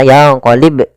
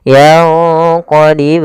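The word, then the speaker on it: يَنقَلِبْ: Bnya kita pantulkan. Jangan dibaca yaqolib eh maaf yaqolib ilaikal bashar tapi harus ada pantulannya dan tidak boleh ada hamzah yanqolib. Ah itu tambahan hamzah tapi dia yanqolib ilaika yaqib ilaika. Langsung saja.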